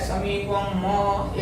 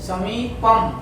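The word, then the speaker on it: समीपम्: पे भाग देना है, और जो यहाँ म है वो आधा है तो हमको वो आधा ही बोलना है, समीपम म ऐसे नहीं बोलना है, समीपम, ठीक है।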